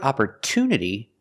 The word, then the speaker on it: opportunity: But in the word opportunity, the stress is after the T. There's a stress after the T. For this reason, we cannot pronounce it ch. We pronounce it with a clear T sound.